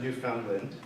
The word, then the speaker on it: Newfoundland: Magie Dominic was born in, I'm going to say it wrong, Newfoundland, rhyming like understand, is a writer and artist and was one of the founding members of Café Cino.